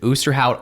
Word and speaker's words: Osterhout: you actually pronounce it is it is it oosterhout osterhout oster hoot auster hoot so it's actually oosterhout boosterhow yeah boosterhout free library that's that's the official name yes so the debate